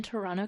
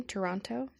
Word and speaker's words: Toronto: it this happened in Toronto Canada Ontario Toronto Ontario Canada did you say it Toronto Canada and then I said Toronto Ontario Canada not pronounce the T the second T Toronto Toronto Toronto Toronto Toronto